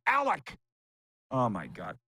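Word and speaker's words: Alek: wrote in and they're mad that I said Alex Manoa I said both Alec and Alex but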